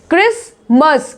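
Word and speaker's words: Christmas: क्रिसमस, क्या पढ़ रहे हैं इसको? क्रिसमस। क्या पढ़ रहे हैं? क्रिसमस। टी यहाँ पे साइलेंट देख रहे हो आप लोग।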